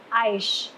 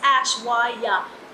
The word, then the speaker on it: Aishwarya: i she said kara it's not aish it's ashwa yah and i'm like okay